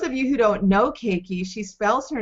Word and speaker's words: Caiikie: you who don't know keiki she spells her name c a i i k i e at first i thought it was hawaiian but it's not pronounced that way so tell us how